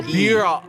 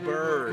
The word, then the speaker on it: Bure: Oh, beer. Oh, Burr. And it's pronounced Pavel Bure.